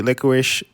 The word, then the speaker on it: licorice: I like red licorice and the strawberry licorice.